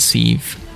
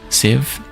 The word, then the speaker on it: sieve: Rounded, wounded, grieve, and sieve. Sieve? Some people say sieve. I think it is sieve. I think everyone says sieve.